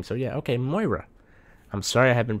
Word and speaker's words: Moira: videos about it's about Myra it's about Myra but not pretty sure she's pronounced Moira since I live in Ireland she does have an Irish name so yeah okay Moira I'm sorry I have